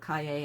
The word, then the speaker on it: cahier: It looks like cashier without the S. Kaye. It's called Cahier. And how are we going to remember that? Yippee-ki-yay!